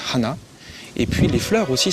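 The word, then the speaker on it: はな: Et l'histoire de ce personnage, c'est que le nez en japonais ça se prononce Hana, et puis les fleurs aussi ça se prononce Hana.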